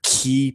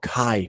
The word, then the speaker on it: Ki: spells and their abilities are key powered or Kai powered however you want to pronounce it look for the key